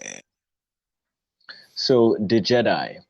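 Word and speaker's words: Djed: The root word seems to be Jed, D-J-E-D, and the source of this seems to mainly be the Jed pillar.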